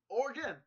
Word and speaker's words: Oregon: I said Oregon Trail! You've always pronounced the E, and it's... Oregon.